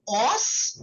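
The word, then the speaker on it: ans: Uh J O okay O. Okay that's correct. Now years are called as O. Okay. Even though it's written as an S, the pronunciation is O with the S being silent.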